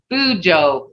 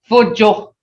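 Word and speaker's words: fuco: Is that word I always use as a, some people says fujo. It's not fujo, it's fujo. Hear that? Oh, that oh makes a lot of difference in pronouncing that.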